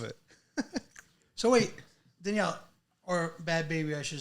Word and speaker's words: Bhad Bhabie: made you is it bad baby the H is silent is it well yes